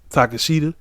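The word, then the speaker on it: Takeshita: we had a little backstage promo with uh takashita to catch there that's how you say his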